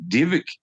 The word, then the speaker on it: Dybbuk: about the Dybbuk box, Dybbuk, and its Hebrew pronunciation. Like the Y is an I and the BB is a VV, like trabajo or trabajo in Spanish, it's Dybbuk Divik, and it's well documented